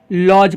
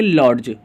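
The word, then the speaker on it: lodge: इसमें देखिए लॉज पढ़ते हैं, ना कि लॉर्ज, लॉर्ज नहीं बल्कि लॉज पढ़ते हैं, इसलिए इसमें डी का उच्चारण क्या होगा, नहीं आ रहा है।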